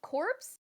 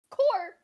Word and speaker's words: corps: Sounds like corpse. Corp. Wait. Core. Wait. Okay, it's core.